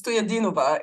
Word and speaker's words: Stoyadnova: It's Stoyadnova is the right pronunciation, but definitely close enough. Thank you. Yeah, again, thanks so much for having me. I'm really excited to be here. My name's Stoyadinova.